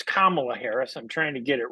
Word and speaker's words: Kamala Harris: and Kamala Harris I my wife has been yelling at me about not pronouncing her name properly Cela Harris uh so it's Kamala Harris I'm trying to get